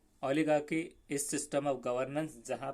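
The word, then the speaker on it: oligarchy: ओलिजेर्ची, जिसका सही pronunciation ओलिगार्की ऐसा पड़ेगा. ये ओलिगार्की, ये CHY की हो जाएगा, और ये गा ओली, तो ओली नहीं पढ़ना है, ओलिगार्की.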